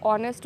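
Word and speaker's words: honest: ठीक है, यहाँ पे ये वर्ड साइलेंट है या ये वर्ड वॉवेल में है, या हम हॉनेस्ट बोलते हैं, हॉनेस्ट नहीं बोला जाता ऑनेस्ट बोलते हैं, या हावर नहीं बोला जाता आर बोलते हैं।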